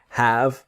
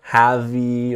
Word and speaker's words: have: This is the idea of have and a noun. So the pronunciation is have. Never have-y or anything like this. The E is silent, so it's have.